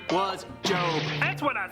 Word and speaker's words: Job: His name was Job. I think it's pronounced job. No, it's Job.